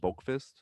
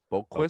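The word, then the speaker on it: Boqvist: Yeah, but you don't pronounce the V. It's just like Lundqvist.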